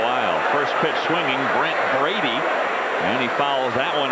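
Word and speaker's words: Brede: One and one to Brady. It is pronounced Brady even though it's spelled B R E D.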